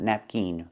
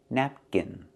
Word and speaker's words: napkin: Use the short I sound like this is, not the long E sound like green beans. Not napkin, but napkin, napkin.